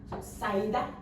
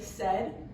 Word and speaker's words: said: So, saida. Is that how you hear said usually? No. We say it as said. So these two letters in the middle combine to make a new sound, which is what makes this word an irregular word.